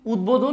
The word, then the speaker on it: উদ্বোধন: এটা বলতে বুঝাচ্ছে এখানে যখন এই এই উপসর্গ যোগে যেটা হবে সেক্ষেত্রে দেখা যাবে যে কি হবে আমাদের এই যে ব টা আছে ব টা যেরকম আছে সেরকমই থাকবে অর্থাৎ অবৃকৃত বলতে বোঝাচ্ছে কোন চেঞ্জ হবে না আবার দেখেন এখানে উদ্বোধন